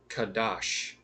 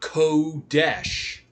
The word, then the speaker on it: kadosh: For example, kadosh, not kesh. Kadash because you have to use the letters that he gave us.